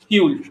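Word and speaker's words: Juul: Mona यूल written as Mona जूल बट इट is pronounced as Mona यूल.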